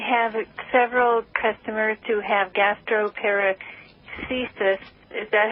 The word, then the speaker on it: gastroparesis: Well, I have several customers who have gastroparesis. Is that how you pronounce it? Oh, gastroparesis? Yeah, gastroparesis.